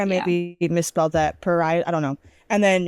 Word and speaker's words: parietal: I don't know how to pronounce it. Paral. P A R I E T A L. I feel like I maybe misspelled that. Paral.